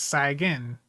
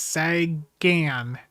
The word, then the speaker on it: Sagan: just, you know, the way that I naturally pronounce it is sagen. I'm sorry about that, but I understand that the the correct pronunciation is Sagan.